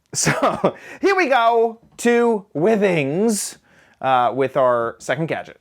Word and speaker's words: Withings: aware um okay so here we go to withings uh with our second gadget eight years ago